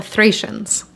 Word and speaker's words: Thracian: We're talking about the Thracians. I've seen it pronounced as Thracian, Thracian, and Thracian. I'm going to go with the most common pronunciation I see in English, Thracian.